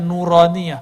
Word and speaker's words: nuroniyah: makanya ribet tuh kita kasih nama Naura Nia bacanya nuronia Hai huruf-huruf cahaya Hai